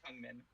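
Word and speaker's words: Feng Min: People pronouncing it Fang is like the American.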